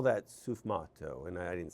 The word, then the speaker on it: sfumato: And they call that sfumato.